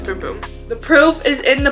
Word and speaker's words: Bum Bum: I know it's not Bum Bum. I'm pretty sure it's Boom Boom.